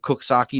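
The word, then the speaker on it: Coxsackie: Have you ever heard of Cooksaki, New York, Bob? Yes. Now, have you ever seen how Cooksaki is spelled? Yep. Does it sound like it says No. Cooksaki? Nope.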